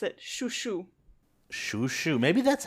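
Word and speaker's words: Chouchou: happen um quick note the way I pronounce his name is the French way because of course because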